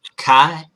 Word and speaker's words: qi: kind of like karma is pronounced kai and you can also spell it k i but in scrabble it